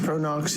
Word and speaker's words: Pro-Nox: the use of nitrous oxide so what is pronounced pronox is it's a one of the largest vendors